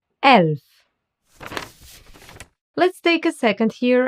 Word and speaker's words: Elf: The letter E is called E in German because it's pronounced like the E in bed or select.